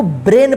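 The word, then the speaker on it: brain: ए आई एन इसको ब्रेन पढ़ेंगे देखिए यहां पे ए आई अगर एक साथ रहता है या ए वाई एक साथ रहता है तो इसका जो उच्चारण होगा ए होगा क्या होगा ए होगा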